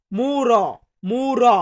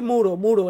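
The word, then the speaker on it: muro: ভাষাতে বলবো মুরো মুড়ো আসলে উচ্চারণটা সঠিক ভাবে বলতে গেলে আমরা বলব মুর মুর এমনটা উচ্চারণ করব বাট বেসিক্যালি আমরা বলে থাকি মুরো মুড়ো এমনটা বলি এরপরে আছে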